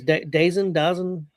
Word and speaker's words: DAZN: How they pronounce that, Chris? Dazn.